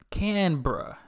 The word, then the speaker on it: Canberra: I'm still pronouncing it wrong probably. But Canberra, that's how they said it in the video. Canberra.